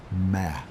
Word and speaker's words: me: The concept is called MI, pronounced me.